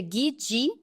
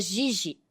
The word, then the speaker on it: Ghiggi: E o Guidi, na Itália, o som de 2 Gs é D, então se pronuncia Guidi, mas se escreve G-H-I-G-G-I, que ficaria Gigi, né? Mas o correto é Guidi.